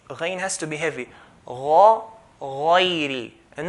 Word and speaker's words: غير: غين here is from the heavy letters there, from the heavy letters. So we have to pronounce it with heaviness, okay? By doing a full mouth, heaviness on the letter.